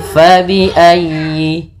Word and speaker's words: فبأي: Fa, hati-hati jangan dibaca dengan pa. Kemudian dalam ayyi ditekan huruf ya-nya karena dia tasdid, dan huruf ya termasuk huruf lin yang lembut, di dalam pelafalannya jangan dihentakkan.